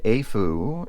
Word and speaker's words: AFUL: lvx d41 nor the AFU performer 5 and AAU is the way you're supposed to pronounce it thanks to my friend